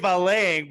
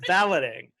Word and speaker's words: valeting: yeah normal procedures UK I would say UK valeting but that would be incorrect apparently it's pronounced balloting UK balloting Limited I'll read